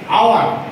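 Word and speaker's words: hour: আওয়ার। এ এ আসছে না উচ্চারণে?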